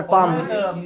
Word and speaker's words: palm: कौन सी हथेली पर, पाम पाम पाम पाम, PALM, L silent होता है, हाँ कौन से हथेली पर, तो on which पाम, on which पाम, very good.